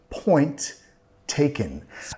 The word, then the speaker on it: point taken: siendo Point taken ahí nota que no voy a pronunciar las dos ts tenemos una t al final de Point y después una t con taken Point taken Point taken estoy vinculando solo voy a pronunciar una de las tres Point taken call bl